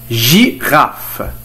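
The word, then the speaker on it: girafe: انتقل الى كلمات اخرى تتضمن لا لتر جي حرف جي وينطق بالجيم، التذكير فقط، فلا لتر جي يمكن كذلك ان تنطق بصوت ج. جيراف جي غاف يا الزرافة،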